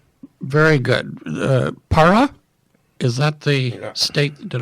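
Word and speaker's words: Pará: Para, is that the state? Did I pronounce that correctly?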